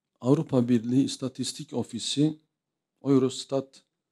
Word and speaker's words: Eurostat: Avrupa Birliği istatistik ofisi eurostat Euro stad diye okunuyor verilerine göre 2021 yılında